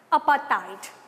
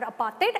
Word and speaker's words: apartheid: Apartheid, or apartheid as the South Africans pronounce it.